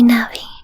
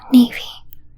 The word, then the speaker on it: Navi: I know that all the resources say Navi, because it is a navigation fairy. But I have very fond memories of playing with my brother when I was a kid, and we would always say it wrong, Navy.